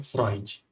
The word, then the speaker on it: Freud: Ela com muita educação, ela falou: "Olha, embora se escreva freude, se pronuncia Freud."